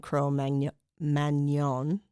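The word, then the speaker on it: Cro-Magnon: So it's like that um overlap between um the uh Neanderl and Cro manon people say Magnan, but you do a French pronunciation.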